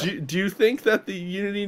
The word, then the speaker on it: Eunity: A website with silent letters was a great idea. No, it's there. Unity.